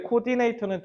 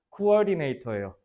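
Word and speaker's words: coordinator: 너네 코디네이터는 대표적인 콩글리시 발음이에요. 저거 원래 발음은 뭐냐면 코어디네이터예요.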